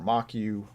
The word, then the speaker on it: Moq: package again moq now this is pronounced mock or mock U or whatever but however